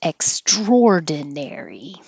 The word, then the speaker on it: extraordinary: Thanksgiving Day Parade extraordinary every single time I type this word I have to think extraordinary but it's extraordinary straw corn starch corn